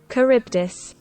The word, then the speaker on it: Charybdis: It's ka, not cha. Charybdis.